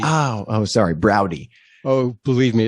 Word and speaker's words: Braude: you today professor broad oh i couldn't hear you that time sorry i inadvertently pressed the mute button the name is pronounced browdy as in howdy oh oh sorry browdy oh believe me it's